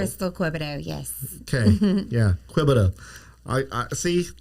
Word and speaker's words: Quebedeaux: We're going to be talking with uh Dylan and Kristen Quida. Crystal. Crystal Queido. Yes. Okay. Yeah. Quiet. I I see I I butchered last names bad, but I I think I got that one.